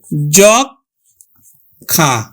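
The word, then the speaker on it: যক্ষ্মা: এজন্য যুক্ত বর্ণের সাথে মফলা থাকলে মফলার উচ্চারণ হবে না। তাহলে আমরা উচ্চারণ করব কিন্তু জখা।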